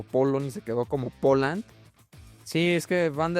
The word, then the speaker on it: Poland: Bueno, pues resulta que en inglés no se dice polony, polsk No, mi rey, se dice Poland.